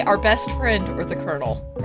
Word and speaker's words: Colonel: Okay, now sit by Colonel is how it's pronounced.